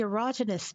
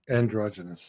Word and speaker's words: androgynous: Oh, and what about the erogynous people? Am I saying it right? Oh, and androgynous.